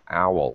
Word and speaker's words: owl: all okay owl okay let's get the pronunciation right it's like ow i hit myself in the head ow okay owl owl oh yeah that's much better okay and owl in